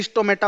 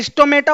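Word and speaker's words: stomata: अच्छा, स्टोमेटा और स्टोमाटा में कोई भी डाउट मत लाना, दोनों एक ही चीज है, अलग अलग लोग अलग अलग प्रोनाउंस करते हैं। मैं स्टोमेटा प्रोनाउंस करता हूं, ठीक है, आपकी जो मर्जी हो प्रोनाउंस कर लीजिएगा।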